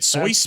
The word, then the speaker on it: Seuss: He went with a German pen name for his stuff. He pronounced it Seuss, but everyone read it as Seuss, so that just kind of stuck, even though he never pronounced it that way.